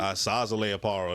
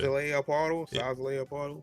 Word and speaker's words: Szayelaporro: Szayelaporro. That's how I say that shit. Szayelaporro. Yeah. I used to say Szayelaporro. I didn't even pronounce the Z.